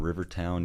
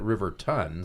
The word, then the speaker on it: Rivertown: I'm Jake Houston, and I'm from Rivertown, Utah. There you go. Hey, pronounced it correctly. Rivertown. Rivertown. They misspelled it Riverton. Some people say it that way, but we know it's Rivertown.